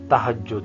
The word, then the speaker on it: تہجد: اس نے تہجد پڑھی۔ اب تہجد کو بھی موسٹلی تہجد بولا جاتا ہے، تو اس کا بھی درست تلفظ تہجد ہے۔ افعال اور تفاعل